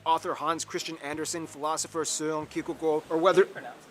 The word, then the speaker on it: Søren: Hans Christian Andersen, philosopher Søren Kierkegaard, or whether... That's actually how you pronounce his name. Wow. It's not Soren Kierkegaard.